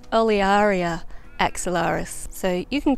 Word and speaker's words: Olearia: always pronounced it however to pronounce a botanical name correctly you're technically supposed to pronounce all of the vowels so technically it's olearia axillaris so you can call it illyria or olearia i'm probably going to